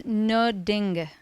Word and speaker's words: Nödinge: It's Nödinge. Nödinge.